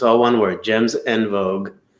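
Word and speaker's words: en vogue: it's all one word gems and vogue which is pronounced on vogue as my french speaking wife tells me um so we're going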